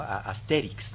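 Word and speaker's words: Astérix: Pero en español lo justo sería un acento en la E, ¿no? Asterix en realidad.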